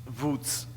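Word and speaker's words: Łódź: Wódz. Ça se prononce comme ça, mais ça ne s'écrit pas comme ça. Simplement que dans un parc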